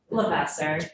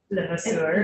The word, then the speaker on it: Levasseur: It's the English pronunciation, but correct me if It is the English pronunciation. Okay, well, Senator Campion was always like to use the French pronunciation, I think. What? Lavasser. Oh. We've been in Vermont too long to be Levasseur.